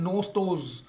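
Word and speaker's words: gnostos: बना हुआ रूट है नोटोज नोटोज जी और एन एक साथ लिखे हुए हैं जी और एन में जी साइलेंट हो जाता है नोटोज और नोटोज का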